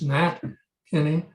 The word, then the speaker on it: Nat Kinney: It is Nat Kinney. I don't think I pronounced it that way, and I apologize.